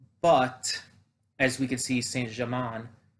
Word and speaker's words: Saint Germain: as we can see saint germain or san germain rather i i pronounced that wrong song jermaine is um still plotting [